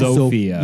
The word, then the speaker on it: Zofia: Shortly after that, his son Tomasz Beksiński was born, and he and his wife, it's spelled Zofia? Zofia, Yeah, but I believe that's just the Polish way to Sophia.